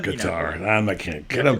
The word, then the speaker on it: Qatar: you pronounce it yeah I think officially it's cutter I call it guitar and I can't get